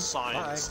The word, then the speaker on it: Sainz: His name is, his last name is Science, yet it's spelled like Saints.